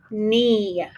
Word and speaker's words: knee: The K is silent, so we need to put a line through it.